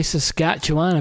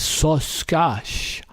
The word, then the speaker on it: Saskatchewan: Lake Saskatchewan which is can you say Saskatchewan but you can't even spell it it's one of those names that when you talk to Americans or talk to anybody that's not from Canada they always sauce gosh so scotch Wow such sketched what this creature it's